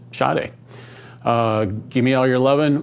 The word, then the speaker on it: Sade: I always thought it was Sade. Looked it up. I'm supposed to pronounce it Sade.